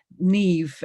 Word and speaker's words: Neve: you from further afield neve is the pronunciation of my name uh it's like eve with an n in front the the rest of you